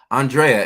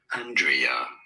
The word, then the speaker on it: Andrea: People pronounce it differently. So this really, Andrea, with an emphasis on the first syllable, although in American English it would be said more as Andrea. Some people do pronounce it as Andrea, with an emphasis on the second syllable.